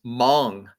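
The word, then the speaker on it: Hmong: Um and so she was speaking in a in a language known as Mong, uh which I think is spelled H M O U N G if I remember right.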